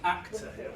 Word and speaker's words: actor: Where's the stress? Actor, first syllable.